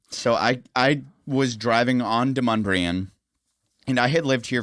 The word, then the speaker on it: Demonbreun: Like, when I first got to town, I called it Demon Brew.